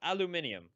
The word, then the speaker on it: aluminium: get out of here it's not pronounced aluminum it's pronounced aluminium well use art of